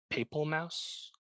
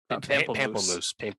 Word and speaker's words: Pamplemousse: How do you say it? Papal Mouse? Pamplemousse. Pamplemousse, which is a really short track, but clearly hyper pop production.